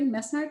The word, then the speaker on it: Menard: Mesnard? Menard? It's Menard. Yeah, it's French.